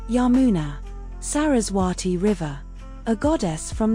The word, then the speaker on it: Yamuna: Secondary domain sacred river pronounced Ganga Yamina a goddess from the Hindu tradition. Primary domain life sustenance. Secondary domain sacred river pronounced Yamuna Sarraati river a goddess from the Hindu tradition.